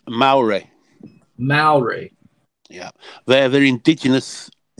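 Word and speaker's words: Māori: You know, the other day you was trying to pronounce that language in New Zealand. Yeah. Maori? Okay. It's Maori.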